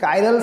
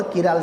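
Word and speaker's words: chiral: दोस्तों the main reason is कायरल centre और किराल centre. कहीं जगह पे आपको उसका प्रोनाउंसिएशन कायरल, कहीं जगह पे आपको किराल मिलेगा। सो कायरल और किराल centre both are equal for अस, हमारे लिए दोनों इक्वल, आपको समझ जाना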